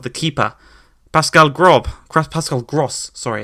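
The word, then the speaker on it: Pascal Groß: wrong side of the keeper Pascale grub craft Pascale gross sorry it's how it's pronounced lovely finishing that one goes into the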